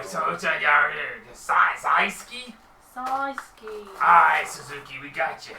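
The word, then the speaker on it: Syksy: you spell that s-y-k-s-y wait how do you pronounce saw ski yeah s-y-k-s-y size key hey look mate can I just call you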